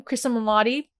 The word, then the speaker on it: Cristin Milioti: What are your thoughts about seeing Cristin Milioti, I believe that's how you say her name, Cristin Milioti, as Sophia Falcone?